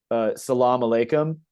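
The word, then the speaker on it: as-salamu alaykum: Iraq you know you say uh Salam Alum and then like it's two separate words and then in Afghanistan it's like Sal Lum like the a is connected to the Salam Salama Lum different pronunciation and you know of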